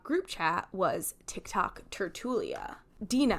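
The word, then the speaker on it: tertulia: chat was Tik Tok Tertullia. Dena, which I would pronounce Churchula, right, which is a crime against humanity.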